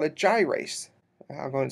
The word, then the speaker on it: gyrase: it's a little different and it's called a gyrase I'll go and spell that because it's not in your book it's